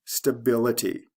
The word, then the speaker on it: stability: the ity able ability stable stability same pattern first syllable to second syllable for this dress l